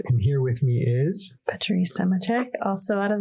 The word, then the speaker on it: Patrice: Say it one more time. Patrice. There's another role there. Patrice Bergeron, same idea.